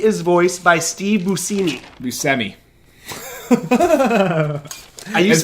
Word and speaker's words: Buscemi: Buscemi. I used It's to say, pronounced Buscemi.